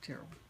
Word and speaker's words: Terrell: As well as the table and chairs belonged to Mary Church Terrell, or Terrell. It's pronounced it Terrell. Terrell.